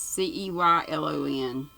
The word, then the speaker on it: Ceylon: to i should know how to say this c-e-y-l-o-n ceylon c-line immediately after christmas to stay